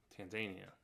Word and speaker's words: Tanzania: Tanzania, so they say. That's how they say it. The Tanzanians do.